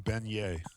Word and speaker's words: beignet: All right, uh beignet. Okay. Well, good job. I'm glad you pronounced that one right. is kind of fun. Beignet. That's how it's Beignet.